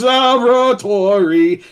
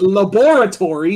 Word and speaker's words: laboratory: Even my mom recalls the ending theme song in Dexter's Laboratory, and remember, it is pronounced laboratory, not laboratory.